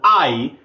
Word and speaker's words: Ai: I'm going to pronounce it Ai because that's kind of how it was pronounced in Hebrew.